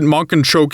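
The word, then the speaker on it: Mankanshoku: rundown shanty town the monan shoke family happily eats homecooked meals around a dinner table Yeah they pronounced it Monk and choke in the dub so I'm just going to say it like that around them the masses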